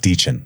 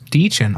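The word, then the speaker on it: Dichen: You know, by the way, her name is pronounced Deechin. Deechin.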